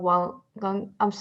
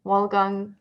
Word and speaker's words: Wollongong: Prior to that, she worked as an academic at University of Wollongong, I'm mispronouncing, Wollongong, Australia.